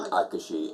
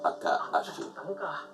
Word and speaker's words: Akashi: The only point that I keep noticing with you is you keep turning Akashi into Akaashi. You keep adding an extra syllable or something in there.